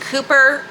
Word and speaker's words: Cowper: Second is William Cowper, despite the fact that it is spelled Cowper but pronounced Cooper, okay?